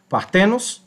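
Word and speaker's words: παρθένος: um sinal ido e partenos e partenos, que aqui você veja que é paroxito, né? A a o a a força da da palavra está na segunda sílaba, né? Partenos, né?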